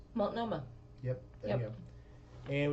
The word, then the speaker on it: Multnomah: We could see, we could go up to Multnomah Falls, which is gorgeous.